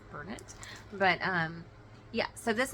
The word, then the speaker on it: Bernat: the Bernat um auras I guess it's pronounced Burnet but um yeah so